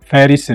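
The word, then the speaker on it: Paris: 애절하고 사람들에게 소개 하셨지 그런데 이파리는 프랑스 인들이 발이 라고 발음하는 프랑스 이스터 바히아 말이죠 빠리 가 아니라 미국 텍사스주 봄 북쪽 의 페리스 를 말합니다 영화 속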